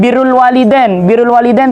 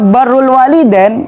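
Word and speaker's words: بر الوالدين: Nah, Kemudian ketika disebutkan birrul walidain itu artinya patuh kepada orang tua, taat kepada orang tua. Nah, kok dibaca barrul walidain, ya, itu berarti artinya adalah daratan orang tua. Nah, apalagi sampai bur. Kalau domah baknya itu dibaca domah, burun itu artinya gandum. Nah, burrul walidain berarti gandumnya orang tua gitu.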